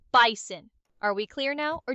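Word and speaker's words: Bizon: Yes, it's spelled B I Z O N, but it's pronounced like the animal bison.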